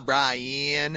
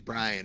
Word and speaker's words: Brian: South they're like ha Brian and I'm like actually my name's Brian it's not Brian there's not like six syllables in my name there's one no it's Brian and